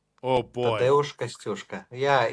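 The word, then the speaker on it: Kościuszko: and you're going to have to excuse me, Kashkishko. Am I pronouncing that correctly? Tadeusz Kashkishko? Tadeusz Kostyuszka. Oh boy. Tadeusz Kostyuszka.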